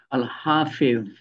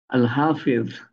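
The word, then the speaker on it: الحفيظ: আল হাফেজ, হাফেজ এর উচ্চারণ কঠিন। তোয়া জোয়া, জোয়া, তোয়া জোয়া, আল হাফেজ।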